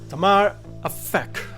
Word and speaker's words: Tamar Aphek: And we got the author and the artist, Tamar Aphek, with us. Hi, Tamar. How's it nice. going? You pronounced it really well, I must say.